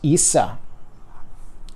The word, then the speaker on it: Isa: This is Isa, also known as. And that is the capital I. Isa. It is the long or accented I. Disregard that. It's the E sound.